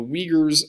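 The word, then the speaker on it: Uyghurs: China in the Shing Jong Province and so Wagers are written like this and it's how it's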